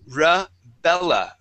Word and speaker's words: Rebella: First off, I want to practice the R sound at the beginning of a word. Okay. So, for example, we have the name. Okay. The name is Rebella.